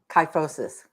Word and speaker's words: kyphosis: 4 exercises for, how do you pronounce that? Kyphosis? Kyphosis.